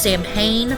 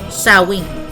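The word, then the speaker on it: Samhain: celebration of seen uh which looks like it's pronounced saman but it's saen uh which was a fire Festival to celebrate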